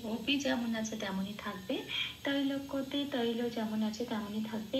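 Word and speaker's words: ত্রৈলোক্য: তো কয় জফলা মানে কয়ের সাথে হর্ষই প্লাস অন্তস্থ কি যে পড়িয়ে দিলে যে উচ্চারণটা বেরিয়ে আসে কি সেটাই এখানে সংস্কৃততে উচ্চারণ করতে হবে। আমি জাস্ট বাংলা হরফে লিখে বুঝিয়ে দেওয়ার চেষ্টা করেছি যাতে এটা পড়লে উচ্চারণটা একদম সংস্কৃতর কাছাকাছি হয়। তো অপি তৈলাক্যা বলতে হবে।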